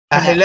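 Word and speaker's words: Ángela: It's Angela, but Ahela, and pronouncing the movie, it's properly.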